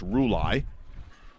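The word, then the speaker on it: Rulli: up uh the catcher josh uh roulei r-u-l-l-i that is definitely a pronunciation i had to check on it could go a few waves but evidently it's rouley so roulette's stepping in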